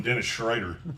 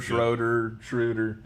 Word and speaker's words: Schroeder: I'm so used to you calling him Dennis Schrader, like he's a fucking NASCAR driver. Schroeder. There's only one Schrader, and it's Ken Schrader. No, with Dennis Schroeder not playing, that really,